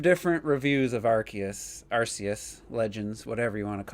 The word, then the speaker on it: Arceus: I want to hear Terrell's thoughts, because I watched 5 different reviews of Arceus Legends, whatever you want to call it, Pokemon. And well, it's every word in the title versus Arceus.